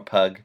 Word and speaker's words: Puig: Puig is how you say it. I think it's or Pug, Puig.